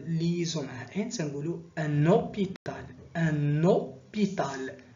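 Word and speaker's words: hôpital: تتنطقش، ما تنقولوش ان هوبيتال، تنطقو ديريكتومون لو او. عليها درنا عليها اكسون سيركونفليكس باش نوضحو هاد المسألة. وتنديرو ليزون مع ان تنقولوا ان اوبيتال. ان اوبيتال هاد لو اش ما نطقناهاش.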